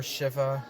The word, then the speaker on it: Shiva: Vishnu the maintainer and Shiva or Shiva I've heard it pronounced both ways the destroyer I think